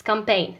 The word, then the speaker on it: campaign: In campaign حملة campaign. It's not campaign. It's campaign. So it's the G.